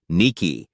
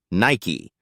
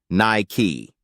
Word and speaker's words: Nike: often gets mispronounced as Niki or Nike the right answer it's Nike pronounced with two clear syllables Nike that final e packs